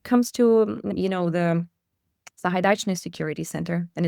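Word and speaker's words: Sahaidachny: partners when it comes to you know the Zahidachnney security center and it's pronounced Sahidachnney by the way and I I know that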